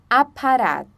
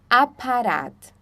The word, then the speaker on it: Apparat: Então com o A, a única diferença do português é que ele é bem aberto quando a gente fala ele numa palavra, tá? Por exemplo, Apparat, Apparat.